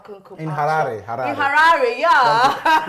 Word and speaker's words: Harare: In Harare, yeah. You have to say it like the Zimbabwean, Harare.